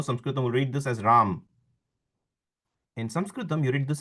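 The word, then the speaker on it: राम: Whereas if I write in Sanskrit, if I do want to say Ram, I would say it like this and you can see the difference in the I cut off the consonant here. So it's Ram. This is the true Ram. Whereas this is Rama.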